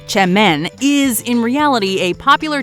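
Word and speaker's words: çemen: that's actually worse spelled with a sea seamen pronounced Chen is in reality a popular type of dip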